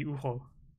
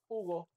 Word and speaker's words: Hugo: Because in Spanish, the H doesn't mean anything unless it's like after a C or an S. Yeah, it's like my name would be Ugo, and Hugo.